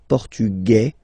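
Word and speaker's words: portugais: The Feminine form okay masculine portug you don't pronounce the S feminine form portuges you pronounce this Z sound okay and then remember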